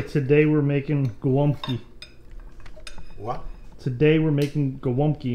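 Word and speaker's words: gołąbki: Just say today we're making gwomki.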